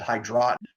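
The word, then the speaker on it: Hydroton: a pipe some of some people pronounce it hide rot their little clay pebbles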